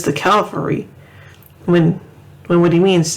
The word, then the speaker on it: Calvary: mansion he says the calvary when when what he means is the calf it's a cavalry calvary is the hill that jesus was crucified on calvary cavalry or cavalry